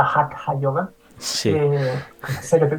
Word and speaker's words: Hatha: que llamamos normalmente Hatha Sí, Yoga, que se pronuncia Hatha Yoga.